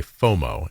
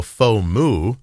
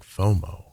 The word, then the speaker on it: FOMO: more O's moo right so you don't go faux moo that sounds weird because it sounds like fo f a u x